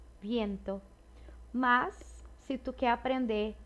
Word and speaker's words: viento: Então, esse V, ele vai ser pronunciado com som de B, mas é um B bem sutil. Não é avión, nem viento, é algo mais sutil. Avión, viento.